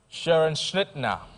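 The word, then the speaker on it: Scherenschnitte: The next word, your major question, Mfantsiman girls, pronounce this, spell this word, Sharon Schnittner, Sharon Schnittner, Sharon Schnittner.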